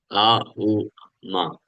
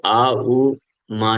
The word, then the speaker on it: ओम: ओम में ये तीन चीजें हैं। आ उ म इसलिए जो ओम का उच्चारण किया जाता है ना प्रॉपर तो अ से किया जाता है ऐसे तो इसलिए उच्चारण करना भी बहुत इतना आसान नहीं है कई लोग जस्ट ऐसे ही कर देते हैं तो आ उ मा से होता है और आ उ मा